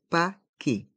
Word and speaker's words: paquet: un paquet de pâes les lettres e et T font le son et un paqué pâte le a avec